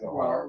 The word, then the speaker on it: Zohar: Yeah, it's Zohar.